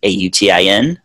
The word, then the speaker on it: Autin: That's my first name, and last name is Autin without the S, Autin.